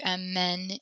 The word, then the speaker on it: amène: So again, when we pronounce this E with the accent on it, make sure you smile slightly when you say it. And you don't need to smile when you say these ones.